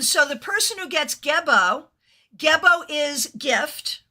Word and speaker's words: Gebo: The winner is the one who gets, am I pronouncing it correctly? Gebo.